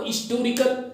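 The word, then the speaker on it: historical: Okay friends, मतलब हिस्टोरिकल को हिस्टोरिकल, hotel को होटल, इस तरह से प्रोनाउंसिएशन, मतलब हिंदी में ह आएगा लेकिन इनके साथ हम एन लगाते हैं।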